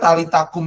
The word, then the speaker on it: Talita kum: Ya, sebenarnya talitakum itu bacanya dipisah. Talita kum.